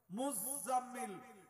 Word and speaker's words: মুজাম্মিল: সূরা আছে 29 পারাতে মুজাম্মিল Sabir doubling doubling উচ্চারণ হবে আমরা মুজাম্মিল বলি কাকে